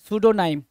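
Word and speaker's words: pseudonym: और उसी को बोलते हैं क्या, सूडोनेम, क्या, सूडोनाइम। सूडो, सूडो मतलब क्या, फॉल्स, PSEDU, वहां पे पी क्या होता है, साइलेंट होता है, सूडो बोलते हैं।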